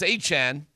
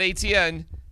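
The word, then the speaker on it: Etienne: Oh, by the way, we see that um Travis Achan, by the way, that's how you say his name. Not ATN, not ETN, it's Travis uh Achan.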